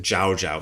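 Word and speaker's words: Zhaozhou: A monk asked Jao Jao. So they they like to use the Chinese pronunciation of of his name. Jau is the Japanese pronunciation of the same master's name.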